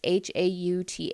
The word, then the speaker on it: Hauth: He has Hoth. That's how I said it. It's Hauth. I think that's how I said Hoth.